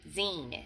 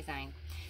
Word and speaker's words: zine: days i promise um zine it was from her zines i always want to say sign this is just an